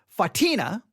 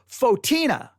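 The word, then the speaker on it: Photina: name of the church, I said Saint Fatina, I think is how I said it. Most said, no, it's Saint Fotina, right?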